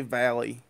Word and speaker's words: Valle: at Andy I I I say Valley to me it's like Frankie Valley from the the Four Seasons where it's spelled with an i but he just uses an e so it's a n